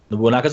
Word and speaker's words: Nobunaga: Also on the 28th, Nobunaga's Ambition, Sphere of Influence, Ascension for PC and PS4. Carnival You Games. suck. Well, how do you pronounce it? Nobunaga's Ambition.